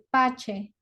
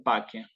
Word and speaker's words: pace: Pero efectivamente en la clásica va a ser pache. ¿Eh? Requiescat in pace sería, ¿no? Porque la C con la E la pronuncio como una K, efectivamente, ¿sí?